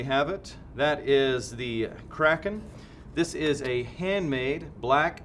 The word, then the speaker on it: Kraken: i have in here called the kraken or kraken depending on how weirdly you like to pronounce things i guess it's technically kraken phonetically but i mean if